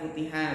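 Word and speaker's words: فُتِحَ: Jadi ini bacanya futiha ya, futiha, terus babunya sebagai apa Ikhwan?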